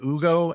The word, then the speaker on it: Hugo: Yeah, I think Hugo's got the upside to be able to knock him down. I don't know why I'm going to call him Hugo. It's spelled Hugo.